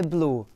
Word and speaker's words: blu: It says once again, oltre l'arcobaleno, over the rainbow, il cielo è blu. The sky is blue. Notice that in Italian it's just B-L-U.